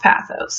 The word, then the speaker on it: pathos: It's pronounced pathos. I always say pathos, so I need you to know that, but it is technically pronounced pathos.